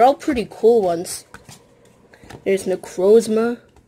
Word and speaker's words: Necrozma: Now we know how to say his name, Necrozma.